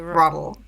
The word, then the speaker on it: WROTL: it now R yeah the W is silent in case you uh it's like wrong but rle yeah it's rle w I'm not sure